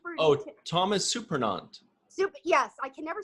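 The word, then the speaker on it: Surprenant: Thomas Superintendent? Oh, Thomas Supernant.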